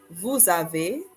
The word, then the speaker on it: vous avez: Vous avez.